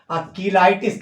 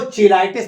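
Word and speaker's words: cheilitis: भाषा में इसे हम कीलाइटिस कहते हैं। अच्छा, कुछ लोग इसको चिलाइटिस प्रोनाउंस करते हैं, तो जैसा आप प्रोनाउंस करना चाहें, किलाइटिस या चिलाइटिस।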